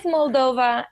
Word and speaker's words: Moldova: Is it Is it pronounced Moldova? Correct. Correct. Actually, thank you. You're probably one of the few that pronounced it correctly. It is Moldova, and it's a very small country.